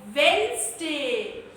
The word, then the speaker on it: Wednesday: It is called Wednesday. Here, letter D is a silent letter, right?